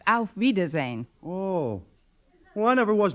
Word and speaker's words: auf Wiedersehen: nice kind stretch actually the word you have in mind is pronounced auf wiedersehen oh well i never